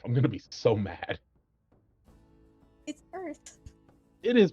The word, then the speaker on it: Oerth: It's Earth. It is pronounced Earth, isn't it, Ronnie?